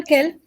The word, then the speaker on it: quels: मेरे को ये बता दो प्रोनाउंसिएशन क्या होगा इसका। फर्स्ट का तो केल हम्म, एंड देन केली केली ये सारे कैल है, केल। अच्छा, ये सारे कैल है, कैल कैल कैल और कैल।